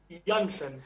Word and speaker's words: Laenzen: Repetí, por favor, tu nombre, así lo pronunciamos bien. Jansen.